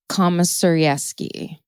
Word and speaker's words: Komisarjevsky: they're spotted by a recent parolee named Joshua Komisarevsky, is basically how you pronounce his last name.